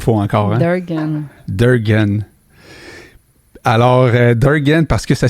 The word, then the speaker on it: Derganc: Durgan? Je le dis pas comme il faut encore. Hein? Durgan. Alors, Durgan, parce que ça s'écrit D-E-R-G-A-N-C. On ne prononce pas le C.